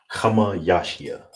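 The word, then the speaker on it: חמישי: Now, you would say this Kamah Yasha. Kamah Yasha. All right? Kamah Yasha. That's how you say fifth.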